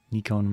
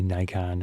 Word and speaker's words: Nikon: Obviously, Nikon is the American America way of saying it. I am American, but I prefer the other way. And the the true pronunciation in Japan is nikon. Three syllables.